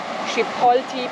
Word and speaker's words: Chipotle: Chipotle pepper. Is that how you pronounce it?